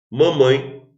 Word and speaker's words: mamãe: Mamãe, a sílaba tônica é mãe.